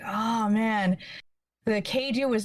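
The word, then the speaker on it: kaiju: I'm just like, oh man, the Keiju was not kind to you. Oh, is that how it's pronounced? I always thought it was Kadu, like the old game.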